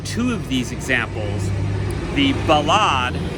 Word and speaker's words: ballade: of these examples the balad not to be confused with the ballad we always pronounce it as a french word because the ballad and